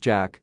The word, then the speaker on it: JK Dollar: Turning to face him and evoking a male pop star named JK Dollar, pronounced Jack.